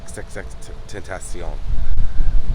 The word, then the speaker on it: XXXTentacion: There's a lot of people trying to pronounce the name. It's XXXTentacion.